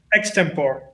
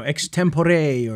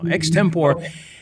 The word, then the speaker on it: Extempore: Extempore. All right, perfect. I always wonder if it's like, you know, Extempore or something weird like that. But no, Extempore.